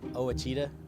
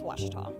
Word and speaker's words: Ouachita: I've heard people say oh a cheetah oh Wichita oh wachita is it pronounced oh Akita searching for Washita Baptist University back in Texas everybody pronounces it Wichita but really it's Ouachita Washington how would you